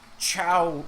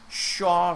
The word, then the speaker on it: Shaw: She was asking for Shaw Street, Shaw, but she was pronouncing it as Chow.